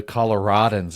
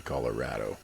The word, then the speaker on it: Colorado: how to drive in the snow and the Colo-RAD-ons out there.